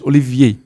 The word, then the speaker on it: Olivier: pronounce your own name I pronounce my name in French Olivier Olivier but I say